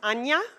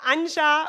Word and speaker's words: Anja: everybody my name is anya anya yeah it's not unsure or unhide like in Spanish it's Anya and yeah you see